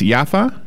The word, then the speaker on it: Yafa: that Stephen has written am I pronouncing your last name correctly it's yafa you are indeed Larry Y and the